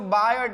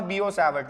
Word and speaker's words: Biot-Savart: अब कई लोग इसको बायट बोलते हैं, लेकिन नाम है बियो-सैवर्ट लॉ, बीओ, टी B silent है, ठीक है।